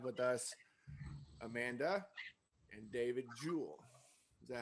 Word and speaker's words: Jewell: Today we have with us Amanda and David Jewell.